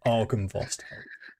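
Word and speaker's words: Argynvost: Argan Vost. So is that the Silver Dragon place? Yes, this is as it sounds really. Argan.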